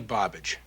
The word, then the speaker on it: Bobbage: sir name's barbage woody bobbage rhymes with garbage boy you got no